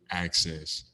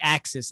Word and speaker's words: Axcess: with aka dj access yo how you doing man hey man sounds good saying my name like that sometimes people get around like axis i'm like not that not quite like i like how